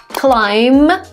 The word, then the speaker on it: climb: By the way, the letter B is also not pronounced when it follows a letter M at the end of the word. Let me show you some examples. Climb, climb. There is no B in the end when we pronounce it.